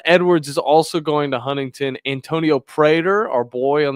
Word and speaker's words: Huntingdon: You pronounce it Huntington because it's down.